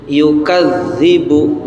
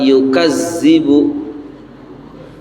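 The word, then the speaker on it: يُكَذِّبُ: Yukadzibu bukan yukazzibu.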